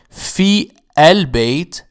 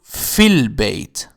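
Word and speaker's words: فِي الْبَيْت: And instead of saying fi al-bayt, we change it to fil bayt.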